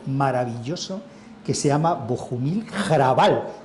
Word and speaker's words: Hrabal: Le dije, Javier Lostalé, he leído un tipo checo maravilloso que se llama Bohumil Hrabal. Digo, se pronuncia como Raval, pero con G, que era lo que me había dicho Trueba.